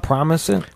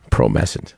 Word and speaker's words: Promescent: How you say it? Promising? Promescent. Oh, man, I fucked that one up.